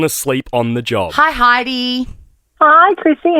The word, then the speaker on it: Heidi: It's actually pronounced Heidi, but because it's spelled H-E-I-D, I just tell people it's Heidi.